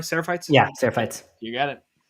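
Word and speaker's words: Seraphites: Sarapites.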